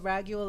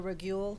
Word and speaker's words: Raguel: So definitely call upon Archangel Raguel or Raguel, whichever you like to pronounce it, to assist you with your career.